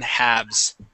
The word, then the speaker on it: halves: shelves and wolves okay the L is silent in halves okay all right um